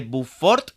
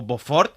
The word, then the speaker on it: Beaufort: fácil, pero basándonos en la escala de bufort, que no sé si lo estoy pronunciando bien, o boford, suena como a soplar fuerte, así que posiblemente sí escrito Beaufort. Pero es que el francés no lo llevo bien.